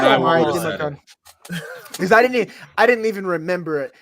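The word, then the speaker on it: Emari Demercado: What is this guy's name? Amari DiMercado. I don't know if that's right, but it no, feels right. That's exactly right. That's exactly right. Yeah, that's exactly right. Amari DiMercado.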